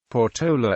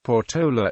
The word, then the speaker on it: Portola: explored the surrounding area the place name is generally mispronounced with stress on the middle syllable thus ignoring the accent mark in its name sex surname Porta is